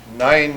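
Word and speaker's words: nein: 9, not to be confused with the number 9, is how you say none or no in German.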